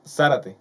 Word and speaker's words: Zárate: tú eres Zárate, ¿no? Sí, Con acento en la A.